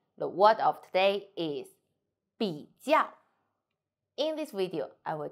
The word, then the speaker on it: 比较: So, 比 we don't need to say 比较 We say 比较比较 So, only pronounce these parts.